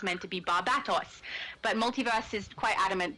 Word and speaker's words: Barbatos: actually to start with I said Barbados because I misread it but barbatos is what I changed it to when my brother